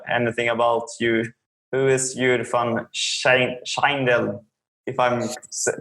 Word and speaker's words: Jur van Schijndel: about you, who is Jur van Schijndel? If I'm pronouncing it quite okay. When you pronounce it Dutch, it will be Jur van Schijndel.